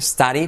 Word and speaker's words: study: Study, la D como una R, study.